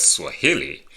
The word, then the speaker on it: Swahili: penultimate which is the second to the last syllable for example uh in the words Swahili the stress is in the stress is on